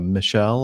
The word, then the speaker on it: Michel: item D Ralph and Michelle or Michael I'm not sure how do you pronounce mich al Michel Michel usually and others actually sent